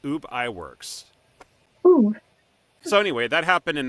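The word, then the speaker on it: Ub Iwerks: UB I it UB yeah no it's it's UB ey works so anyway that happened in 1922 when they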